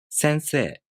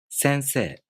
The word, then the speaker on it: 先生: 先生. 先生.